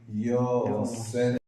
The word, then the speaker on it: Yosef: And Yosef, of course, we say Yud, not a J.